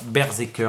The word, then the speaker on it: BRZRKR: Berserker, ça s'appelle, et ça s'écrit comme ça.